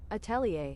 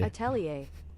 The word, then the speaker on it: atelier: I guess I just I guess I'm just I guess I just know the French pronunciation for some reason because Atelier because this is this is I think this is how they say it.